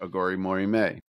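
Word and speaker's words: Aghori Mhori Mei: And it's Billy Corgan saying how to pronounce it, Aghori Mori May.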